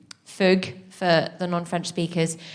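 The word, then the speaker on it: fugue: my show is called fug for the non-french speakers how do we spell that f-u-g-u-e oh like yeah like a few say exactly sort of um linked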